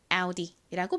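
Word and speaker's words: Audi: 아우디 이죠 아우디 가장 앞에이 A 아 소리 나고 유가 우 소리 나고요 꼭 육 뒤집어 놓은 것만 이상하게 써져 있는데 이거예요 d d 디귿 소리 나고 끝에 아는 e 소리 나니까 아우디이라고 발음이 되는 겁니다이 아우디는 어원을 라틴어에서 가져왔다고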